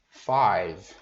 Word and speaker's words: five: O 5, cuidado para não falar five, né? Já vi gente falar five, não é five, é five, né? Bem um five, mais ou menos assim. Tá, deixa eu tirar o negrito aqui, fica melhor. É o five, tá, five. Na verdade, não fica o E no final, fica bem five. Você vê que o V no final fica bem seco, né?